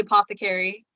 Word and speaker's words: Apothecari: So I basically run a business, and it's called the Apothecari. And it's spelled with an I at the end because it's like apothecary.